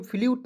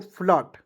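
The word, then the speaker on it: flute: टी ई फ्लट फ्ल फ्ल्यूट नहीं पढ़ेंगे। ठीक है? एफ एल यू टी तो बहुत लोग जो है इसे फ्ल्यूट पढ़ लेता है। ठीक है? इसे पढ़ेंगे दोस्तों फ्लॉट। क्या पढ़ेंगे दोस्तों? एफ के उच्चारण देखिए एफ का उच्चारण आधा फ के रूप में। एल का उच्चारण ल के रूप में। टी ई का ट लिख देंगे दोस्तों।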